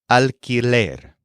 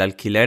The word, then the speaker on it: alquiler: The fee that you pay, or the rent, is el alquiler. This word is spelled A-L-Q-U-I-L-E-R, alquiler.